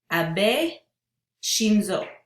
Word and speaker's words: Abe Shinzo: how to pronounce it, Abe Shinzo. It doesn't look that way, but that's how it's said to pronounce it.